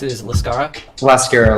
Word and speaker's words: Lascara: pronounce it is lascara lascara like mascara with an L LA lascara okay okay so you